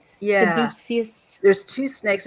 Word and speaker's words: Caduceus: That's the one I can't pronounce. Where, Caduceus, yeah, Caduceus.